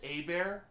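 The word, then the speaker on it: Hebert: hooked me up with his name was lionel hey bear it's spelled herbert but it's pronounced a bear and as far as i remember he was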